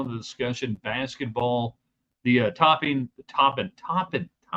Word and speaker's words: Toppin: Tech baseball in the discussion, basketball, the topping. Gotta say it right. I keep wanting to say topping.